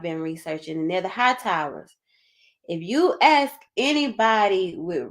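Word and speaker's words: Hightower: get over there because high tower okay we we pronouncing it like that today but the actual pronunciation of it is that eer is English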